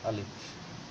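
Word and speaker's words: ألف: আলিফ শব্দটা কিন্তু একেবারে তাড়াতাড়ি উচ্চারণ করতে হয়। আলিফ।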